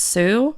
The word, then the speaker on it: Hsu: Maybe his last name's pronounced Sue. It's HSU. His first name is Bernard, but I'd say it's Sue.